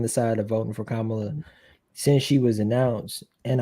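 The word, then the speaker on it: Kamala: saying it wrong this is how you say kamla kamla yeah but it's like the the the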